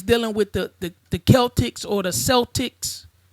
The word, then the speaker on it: Celtic: Festival right or Celtic it's pronounced it's spelled Celtics but if you dive into the word is actually Celtic right Celtic Harvest Festival